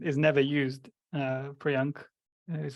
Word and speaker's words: Priyank: Priyank is how you pronounce it.